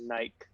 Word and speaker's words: Nike: The other pronunciation of Nike, which is Nike.